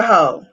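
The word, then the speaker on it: heaux: and women no so h h e a u x how we spell it is only for females we'll have to give y'all a different something for us yeah yeah yeah but y'all hoe sounds sexy h-e-a-u it's it's it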